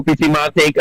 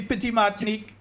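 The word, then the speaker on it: Petite Martinique: Yeah, I go Pity Martik and the rest of the diaspora. You're saying it wrong. It's Happy birthday, my friend. supposed to be Pity Martinique, Carriacou, and Grenada, eh?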